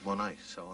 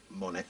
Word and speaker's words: Monet: then uh I quite like an artist called Monet so I named it after him Monet but pronounce it Monet Monet shoes some people call it monets and